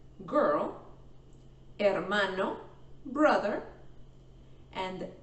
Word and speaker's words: hermano: We don't say hermano, we say hermano.